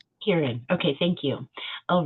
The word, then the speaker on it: Huron: For Huron, is that how do you pronounce it? Kieran? Huron.